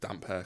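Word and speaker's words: Damphair: the Iron Islands and people in the reading the books thought it was pronounced Dampair like cuz they were looking into it too much. It's not just damp hair cuz he's got he's got damp hair.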